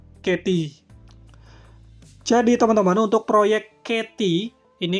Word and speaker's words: Catea: Jadi, Teman-teman untuk proyek Katy ini kalau kita pakai lidah bahasa Inggris ya teman-teman, jadi bacanya ya katy bukan kta sebenarnya tapi lebih bagus kta aja ya karena kita orang Indonesia bacanya begitu.